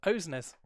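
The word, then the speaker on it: Åsnes: of uh I think I don't know how to pronounce it asnes OES apparently we found out in the broadcast OES ah okay OES that could mean a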